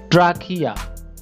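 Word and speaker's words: trachea: সি এইচ ই এ ট্রাকিয়া ট্রাকিয়া এখানে সি এইচ এর উচ্চারণ বাংলা ক এর মত হবে ট্রাকিয়া ট্রাকিয়া অর্থ হচ্ছে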